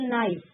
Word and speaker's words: knife: For example नाइफ. नाइफ अगर हम बोलते हैं तो के साइलेंट होता है स्टूडेंट.